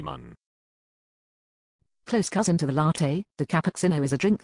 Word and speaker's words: latte: The latte, pronounced latte, is the beginner's espresso drink.